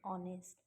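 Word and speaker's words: honest: Aunt, are, यहाँ एक थोड़ा सा डिफरेंट रूल लग रहा है क्योंकि एच जो है वो साइलेंट है और जहाँ भी एच साइलेंट होगा, जैसे आर, ऑनेस्ट, वहाँ हम एन का यूज़ करेंगे।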